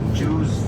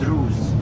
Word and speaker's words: Druze: We have Bedouins, as I said, Circassians, Ahmadians, Baha'is, Samaritans, Druze, not to mistakenly pronounce it Jews, it's Druze, D-R-U-Z-E, Druze.